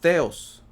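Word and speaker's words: θεός: Ah, la palabra Dios en el griego es la strong griega 2316, que se pronuncia theos, ¿okay? Theos.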